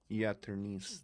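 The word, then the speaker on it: jaternice: It starts with a J. It's a weird word, and you can pronounce it in two different ways.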